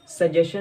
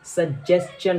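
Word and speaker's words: suggestion: इसकी pronunciation सजेशन नहीं होती है, बल्कि इसकी राइट प्रोनाउंसिएशन सजेस्चन होती है।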